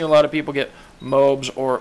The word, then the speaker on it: MOAB: would pronounce that, and I don't really know who started pronouncing it MOAB, because if you think about it, then you're trying to pronounce it, all is pronounced all, not al. So I don't know where the ab part got out of it. So anyways, I would consider it being pronounced MOB, not Moab.